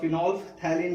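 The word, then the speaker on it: phenolphthalein: हम लोग बोलते हैं फिनोल थैलिन, फिनोल थैलिन। बहुत सारे लोग ये पीएच प्रोनाउंस भी कर लेते हैं कहीं कहीं पर, ठीक है ना। तो इसको आप फिनोल थैलिन भी बोल सकते हैं या फिनोल थैलिन भी बोल सकते हैं।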